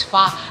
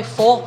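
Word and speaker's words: phở: sarap sarap nung fa niya Oo at ang pronunciation nga daw nila is fa akala namang Pinoy fo kasi ang spelling niya PH but it's pronounced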